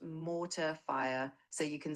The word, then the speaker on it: mortar fire: It's pronounced mortar fire with an emphasis on the mo sound.